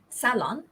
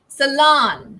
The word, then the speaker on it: salon: let's take a look in british english it's salon okay so it's salon it's hard for me salon right so the pronunciation is the stress is on the first syllable and in american english this stress falls on the second syllable and it's also pronounced differently it's um salon salon sorry salan right when i do this